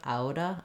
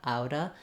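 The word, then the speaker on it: outta: with a D sound Auda Auda because those two link together and the T at the end when it links to a vowel is more of a flap like in water or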